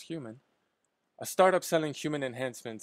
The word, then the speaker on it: HVMN: biohacker and co-founder of hvmn pronounced human a startup selling human